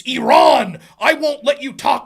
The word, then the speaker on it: Iran: yelling at me because I pronounced her country of origin Iran it's it's Iran I won't let you